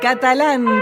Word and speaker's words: Catalán: en sala Ernesto Catalán Catalán Catalán ese acento en la segunda a es sin duda un